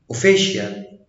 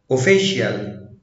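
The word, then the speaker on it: official: طب لو جه بعديه حرفين متحركين وراهم حرف ساكن ينطق ش، زي اوشن، السي جه بعديها اي اي حرفين متحركين وبعد كده حرف ساكن فاتنطقت ش، اوشن، اوفيشال، اوفيشال، انشنت، انشنت، الكتريشن، الكتريشن.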